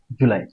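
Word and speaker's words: July: আই লাই জু লাই কিন্তু লাই এর উপর একটু স্ট্রেস দিতে হবে জু নরমাল করে বলবো লাইটা স্ট্রেস দিতে হবে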